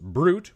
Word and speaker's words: Brute: If you are looking to reach out to me, you can find me at Jackal Brewit, better pronounced Brute, which is fruit with a B, on the X, formerly and betterly known as Twitter.